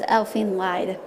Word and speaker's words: Elfen Lied: like watching animes like full metal alchemist and elfine lid i pronounced as elfen lied but anyway but am I um-hmm I was